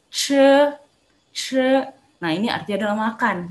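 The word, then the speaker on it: 吃: Dibaca bukan ci, tapi dibacanya pakai E ya. Jadi ce.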